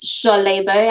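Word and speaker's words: Ṣolebo: It's Solebo, actually. SH is how you pronounce it. Um, I was there's a wrong. dot under the under the S, which makes it a sh.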